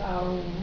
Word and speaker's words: Aum: Actually, it's not Om, 2 letters, No, it's Aum. but it's 2 syllables. Aum, 3 A-U-M.